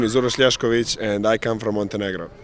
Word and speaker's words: Uroš Ljašković: My name is Uroš Ljašković, and I come from Montenegro.